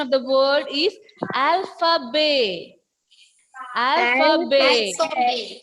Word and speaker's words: alphabet: T is a consonant letter, so that will be silent. And the pronunciation of the word is alphabet.